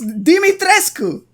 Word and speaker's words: Dimitrescu: do this really her name is romanian it's dimitrescu bruh the duke i gave her the body